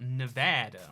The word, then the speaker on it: Nevada: Nevada is actually a Spanish word. It's pronounced Nevada, which means snowy, or Nevada.